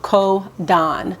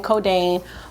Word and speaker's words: Kōdanne: so very quickly the pronunciation is ko don i know a lot of people were saying codeine but the teacher in